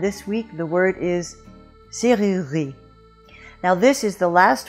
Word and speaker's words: serrurerie: The first syllable is easy, just se, as in set or bête. The second syllable is not that hard, rue, as in la rue, or tu, or futur, c'est rue.